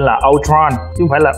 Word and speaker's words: Ultron: Còn đúng tiếng Anh cái chữ Ultron nó là chữ U và L mình đọc là O, còn chữ còn lại chính là Tron thì mình đọc nhanh lên là Ultron, chứ không phải là Ultron nha cam cam.